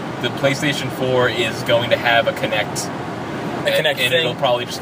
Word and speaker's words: Kinect: Kinect. Like kinetic. Yeah, like but kinetic. Also like Connect.